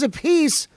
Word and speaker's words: Appice: carmine a piece and yes it is a piece i learned how to say it if it's vinnie it's vinniopacy and if it's carmine it's karma and a piece and i love the